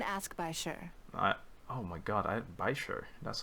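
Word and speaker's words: Baizhu: Oh my god, Baisher. That's how you pronounce it.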